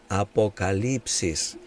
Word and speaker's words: Apocalipsis: utilizamos ya una adaptación al lenguaje Castellano para pronunciar y decimos Apocalipsis pero la palabra Sencillamente significa una revelación quitando